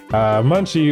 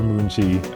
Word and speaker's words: Munchie: There's a better way to pronounce it? Munchie or Moonchie. I think both are correct.